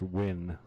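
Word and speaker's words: Nguyen: right it's that yeah it's actually pronounced win says foreigners he's vietnamese all right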